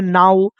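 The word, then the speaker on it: now: जैसे इसको हम लोग कहते हैं नाउ, इसको कहते हैं वाउ, इसको कहते हैं हाउ, इसको कहते हैं अलाउ।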